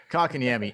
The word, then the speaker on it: Kotkaniemi: Kotkaniemi. Kotkaniemi. Anyway, listen. Here's actually how it's pronounced.